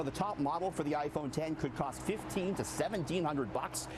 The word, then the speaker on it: iPhone X: the way, I learned it's not the iPhone X. You can't call it the iPhone X. It's iPhone 10. Yeah, but they spell it with the Roman numeral.